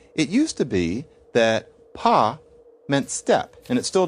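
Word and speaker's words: pas: Classic example of this is the French negative marker pelled p and pronounced pa.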